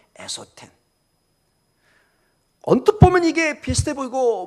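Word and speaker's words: ἔσωθεν: 보면 굉장히 소리가 비슷합니다 것은 엑소 텐 속은 에소 텐 거의 발음이 비슷합니다 그래서 거의 구별이 안 되는 것처럼 보입니다 그러나 극명하게 지금 대조 되고 있습니다 엑소 팬 에소텍 언뜻 보면 이게 비슷해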